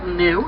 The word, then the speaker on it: gnu: Now they're often called gnu, and that's spelled G-N-U, after the grunting sound that they're often heard making.